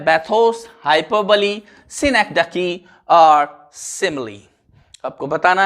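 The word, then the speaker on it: hyperbole: तो yes student, आपका answer अगर बी है हाइपरबली तो बिल्कुल सही है। हाइपरबोल नहीं है, इसका प्रोनाउंसिएशन हाइपरबली है।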